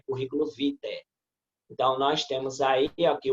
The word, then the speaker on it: vitae: Como é uma palavra latina, essa expressão AE termina pronunciada como E, tá? É currículo vitae.